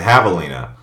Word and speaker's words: javelina: up is a javelina it's not pronounced javelin though it looks like it it's a javelina also known as a